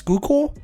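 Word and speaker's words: Schuylkill: I think it's Skookul is actually how you say it.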